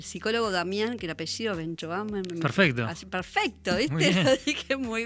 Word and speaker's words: Benchoam: a eh el psicólogo Damián que el apellido Benchoamo.